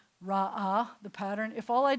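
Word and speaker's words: ראה: But that's because this last letter, the silent ish, hey at the end, it's silent at the end, I can't just leave this guy as a short vowel.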